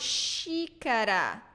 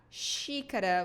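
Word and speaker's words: xícara: so another pattern here when it is in the beginning of words we pronounce it like so she kura shadow p right and the last one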